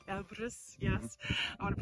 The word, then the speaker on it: Elbrus: sorry um behind me is M ibris abis Elbrus Elbrus yes I want to pronounce it correctly and on the other side